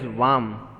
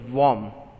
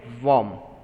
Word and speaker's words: warm: keeps us warm okay you many of you pronounce it as vam no that is an incorrect pronunciation vam no it is not a correct one so warm okay warm similarly many of you just for your knowledge